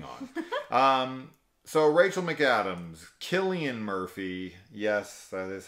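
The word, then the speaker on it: Cillian: into it moving on um so Rachel McAdams Killian Murphy yes that is how you pronounce his name uh and Brian Cox uh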